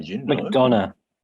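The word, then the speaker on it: McDonagh: McDonough. McDonough. It's like Um, McDonald's, but without.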